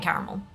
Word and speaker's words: caramel: like that's fine but there's a second a in caramel please pronounce it it is there for a reason don't just [ __